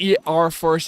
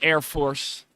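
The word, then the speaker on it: ER-Force: team from a long not pronounced e Force as some might believe but Air Force play on words to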